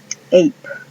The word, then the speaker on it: ape: Por ejemplo, ape. Se escribe A-P-E.